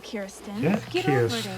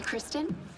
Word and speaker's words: Kirsten: of divinity get real Kirsten Kirsten hi Kristen everyone pronounces it wrong the r is after I Freer well at first